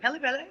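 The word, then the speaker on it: Pelle Pelle: Is it Pele Pele?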